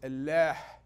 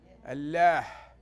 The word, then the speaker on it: Allah: diverse religion the pronunciation the correct pronunciation the Arabic route pronunciation of God's name in Arabic is Allah Allah do you know what